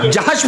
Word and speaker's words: جحش: بی بی زینب بنت جحش ہے، حجش نہیں ہے. وہ نقطہ جیم کا نہیں ہے، وہ نقطہ باقاعدہ جحش، حضرت زینب بنت جحش رضی اللہ عنہ. میں حجش نہ پڑھیے گا، جحش پڑھیے گا.